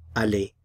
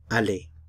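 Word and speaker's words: aller: Ali to go Ali to help you remember the verb Ali to go in French think of the word Ali in English the word Ali is actually from the French word Ali which is a form of the verb to go and an Al in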